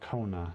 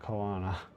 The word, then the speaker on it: Kona: I also forget that the name is pronounced Kona, not Kana.